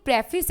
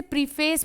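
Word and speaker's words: preface: तो प्रियम्बल जो है ना, ये भी एक प्रेफिस है, किसका, कॉन्स्टिट्यूशन का। मैं प्रेफिस की यहाँ स्पेलिंग लिख देती हूँ क्योंकि काफ़ी सारे बच्चे इसे प्रीफेस बोलते हैं। इट्स नॉट प्रीफेस, इट्स प्रेफिस, ठीक है।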